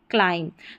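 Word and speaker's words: climb: है ना, देखिए एम बी है ना शब्द के अंत में, तो बी क्या रहता है यहाँ पर, ये पढ़ा नहीं जाता, एम बी साथ में रहता है आखिर में, तो यहाँ पर बी साइलेंट रहता है, जैसे लैम, थम, क्लाइम।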